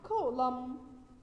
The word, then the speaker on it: column: and followed by end like column we say column not column okay let's now handle